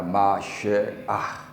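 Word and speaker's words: מָשִׁיחַ: 네, 보다 더 원문에 가까운 그런 발음을 하려면 저렇게 해야 됩니다. 마쉐아 이렇게. 그래서 이게 영어적인 표현으로는 메시아가 되는 것입니다.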